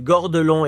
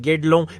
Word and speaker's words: Guédelon: Pour la prononciation, j'ai entendu Gordelon et Guedelon. Mais comme les Français disent Guedelon, je vais garder cette version.